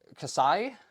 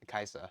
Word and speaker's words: Kai'Sa: So like it's going to be the Casai. How do how do you pronounce that? It's it's Kai Kaisa.